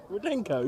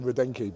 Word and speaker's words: Rudenko: You were saying Rudenki before, wasn't you? That is the biggest lie ever. Rudenki, and we had to correct you.